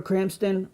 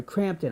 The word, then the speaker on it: Crampton: of the movie barbara Cranston was amazing in this movie I'm sorry crampton I yell keep saying it wrong I apologize the scenes